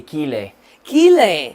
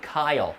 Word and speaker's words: Kyle: name correctly here no they usually say kili kili but they should say Kyle and when you tell